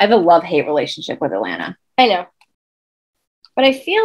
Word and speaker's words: Atlanta: when you're a local the last tea so atlanta is spelled a t l a n t a last he is silent if you're local atlanta atlanta i always say that